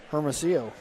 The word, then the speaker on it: Hermosillo: Hermosillo. All right. You remember a couple years ago, I do. mispronounced that. Yep, you got into some little heat. Yes. And you corrected me that the L's are silent.